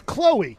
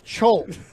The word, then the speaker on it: Chloe: with with a little c h l o e with a little comma to the top and you think that's chol all right how do